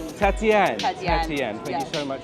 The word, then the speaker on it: Tatienne: Pronunciation of your name. Please tell me. Tatian. Tatianne.